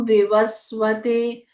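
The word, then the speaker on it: विवस्वते: उच्चारण अह की तरह ओम विवस व में छोटी इ की मात्रा वि व आधा स विवस वते ते दीर्घ जाएगा ओम विवसते अनािका अनामिका का्यान नमः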